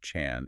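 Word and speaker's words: 禅: They have traveled specifically to ask Jigong about Zen pronounced Chan in Chinese, and specifically about Zen philosophy or Zen mechanisms, which is Chan-ji.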